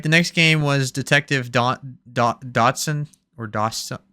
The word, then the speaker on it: Dotson: All right, the next game was Detective Dodson or Dawson. How do you say it, Dawson? It's Dotson.